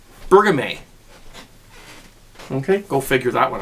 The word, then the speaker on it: Bergamot: I was actually told by one of my longtime viewers during my live broadcast, this is not pronounced Bergameus. It's called Bergamot.